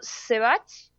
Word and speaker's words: Sebach: Es como Sebastián Bach, sin Bastián, digo yo.